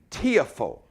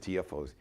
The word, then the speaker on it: Tiafoe: pronunciation correct Francis tiafo so it's like phonetically tiafo tiafo I said tfos see I'm still messing up Francis it's like a TFO tiafo just phonetically get it right like I'm getting it right G like tearful tiafo that's it so it's Francis tiafo